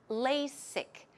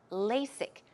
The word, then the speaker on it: LASIK: about that as well the pronunciation of LASIK here is lay sick it's not a Z but rather S sound okay the strong s LASIK LASIK LASIK surgery when did you